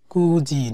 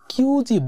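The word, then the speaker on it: 九時: কুজি নি ওকিমাস্তা মানে 9টা। কিউজি বলে না, ইউনজিও উচ্চারণ করে না।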